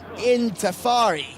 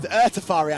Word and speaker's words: Ertafari: Number 12 is Intafari. This horse is Ertafari, I should say, pronounce it correctly, Callum.